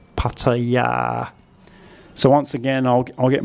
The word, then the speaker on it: Pattaya: So pat, ta, then we have an implied short vowel here, ta. Then we have the yor yak y consonant, and this final vowel is actually long, pataya.